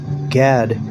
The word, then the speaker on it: Gad: Gad. It means troop. And the way you say Gad in Hebrew, Gad, that's how you say it in Hebrew.